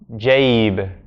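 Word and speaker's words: جيب: So this has to be pronounced jaib, jaib, jaib.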